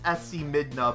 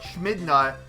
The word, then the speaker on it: Schmidna: I know it's pronounced SC Midna, but Schmidna getting to tier 7.